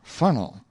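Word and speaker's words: Faneuil: if it were quiny and fanel as if it were funnel in this way you can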